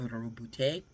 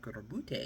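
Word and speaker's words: Roboute: I was like, Robute, because when you read it, it looks like it says a robot. But I was like, Robute, got to roll the R. Robute, Imperium Secundus, he wasn't wrong.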